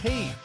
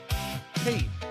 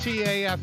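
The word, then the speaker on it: TAFE: It's pronounced TA. TA. Okay. Okay. Or just T AF, right?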